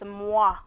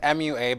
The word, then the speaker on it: MUA: have a makeup artist mwah is how do you say it no my life it's it's just MUA but it sounds like yeah and I was like why is everybody calling themselves Moss yeah makeup artists it's